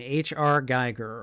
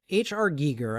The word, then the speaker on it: Giger: Alien design, H.R. Geiger, or H.R. Giger, I think is the proper pronunciation. I don't I've apparently in my head it's H.R. Geiger, but you know.